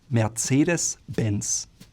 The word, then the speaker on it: Mercedes-Benz: That's at least the way Americans say it. Germans would call it Mercedes-Benz. Again, you hear there's that slight R from the throat that sometimes is quite silent, but it's there.